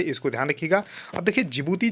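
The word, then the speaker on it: Djibouti: है that is अ जिबूती code the conduct देखिए डी इसमें साइलेंट होता है तो जिबूती इसको पढ़ते हैं तो जिबूती कोड ऑफ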